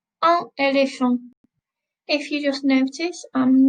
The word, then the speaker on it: éléphant: Je suis allée au zoo et j'ai vu un éléphant. Un éléphant. If you just notice, I'm not saying the T. I'm not pronouncing the T at the end of the word.